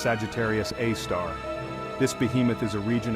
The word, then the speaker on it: Sagittarius A*: super massive black hole known as Sagittarius A asteris pronounced Sagittarius AAR this Behemoth is a